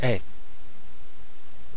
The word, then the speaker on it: es: So a friend, somebody you know, and it's tu es. Okay, and it's spelled E-S-A. So the S is silent, and I want to point out here that the E sound here is different from the je. Remember je? That's the E is pronounced in French.